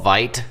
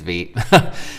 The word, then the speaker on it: Vite: I believe that's the pronunciation. I want to call it Vite, but I think it's Vite. And basically it's a modern bundler, essentially.